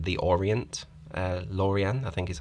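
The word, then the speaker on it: L'Orient: the French Flagship there Laureen Lorien I think is how you pronounce it it's like the Orient uh Lorien I think is how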